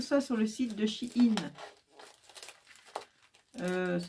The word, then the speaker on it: Shein: En fait, j'ai commandé tout ça sur le site de Shein. Ça s'écrit, je vais vous l'écrire sur une feuille.